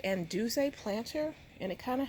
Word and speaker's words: Anduze: I understand and it's called anduze hope I'm pronouncing it right but I think it's anduzay planter and it kind